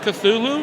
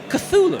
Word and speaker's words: Cthulhu: I think it's James Wan wants to do a Call of Cthulhu.